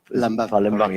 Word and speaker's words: Palembang: So when that shit happened in Palembang, I keep pronouncing it wrong. Palembang, yeah.